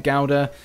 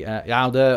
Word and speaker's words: Gouda: I like Edam, Gouda, which I think is pronounced differently, Gouda or something like that in where it's from.